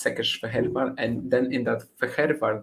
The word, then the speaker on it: Székesfehérvár: In Hungarian, it's basically like sh and s are upside down. So when you have an sz, you pronounce it like s, and when you have an s, you pronounce it like sh, like shak or whatever.